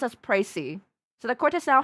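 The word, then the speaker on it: précis: It's pronounced as pricey. So, the court has now heard the precy of the case.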